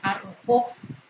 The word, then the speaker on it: arrojó: Se pronuncia con mayor intensidad en la última sílaba. Se arrojó.